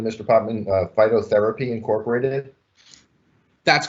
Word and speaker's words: Phytotherapy: Next up, can you tell me if I'm pronouncing this correctly, Mr. Potman? Phytotherapy Incorporated? That's correct, Mr. Chairman, and thank you. Yes, the licensee here is Phytotherapy Incorporated.